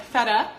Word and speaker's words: feta: so it's extremely important to turn those t's at the end of words that are followed by a vowel sounds into kind of like a D sound so it's gonna sound like feta feta that's better but fed up fed up on the last sound in the word feta is schwa sound which sounds a federal